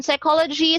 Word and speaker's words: psychology: In psychology, silent P.